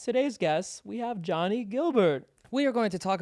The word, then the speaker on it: Guilbert: do you say your last name is it Gilbert it's Gilbert it's not g i mean you